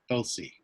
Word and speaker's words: Tulsi: and that is called Tulsi. Or as a friend of mine from Bangladesh pronounces it, Tulsi. They put their tongue right behind their teeth and kind of soften that tea a little bit.